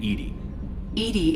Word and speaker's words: EDI: why are you named edie is the phonetic pronunciation of edi that is an acronym